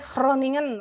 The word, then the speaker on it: Groningen: Bacanya Groningen, agak susah Mbak Eva. Groningen, iya benar susah.